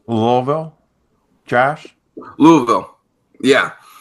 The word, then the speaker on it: Louisville: you pronounce Louisville Josh Louisville yeah you just got a Mumble it that's the southern way anything with a you just anything before the vill Mumble it hit that first letter V yeah so